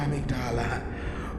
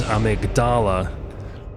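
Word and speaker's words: Amygdala: of the boss is amigdala but the name of the part of the brain is the amydala slightly different pronunciation there and here we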